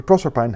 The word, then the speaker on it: Proserpine: Rossetti so apparently Proserpine has to rhyme with pine, which is why I think rossetti wanted to be pronounced that way.